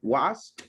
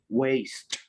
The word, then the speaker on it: waste: in your case alexander careful with the pronunciation wasp waste you waste money you waste repeat after